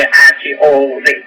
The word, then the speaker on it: Hod: Y a Hod, se escribe H-O-D, Hod, cuerpo astral.